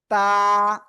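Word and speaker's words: ت: সামনে উপরে দুই দাঁতের, জিহ্বার আগা সামনের উপরে দুই দাঁতের গুড়ায় লাগিয়ে তা অক্ষর উচ্চারণ হয়।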